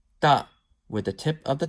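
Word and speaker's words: ت: So it's saying that ta is pronounced with the tip of the tongue touching the roots of thanaya ulya.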